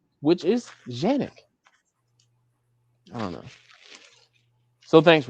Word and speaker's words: Canik: has said, we understand that it looks like Canik. We can say Canik in the United States, but just know we're not taking anything away from the Turkish pronunciation, which is Janik.